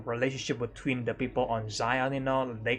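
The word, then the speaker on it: Xion: This one is with an X, but it's still pronounced the same, Zion.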